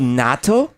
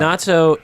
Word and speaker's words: natto: natto is, and real Japanese people will pronounce natto a little differently, but Americanized say natto.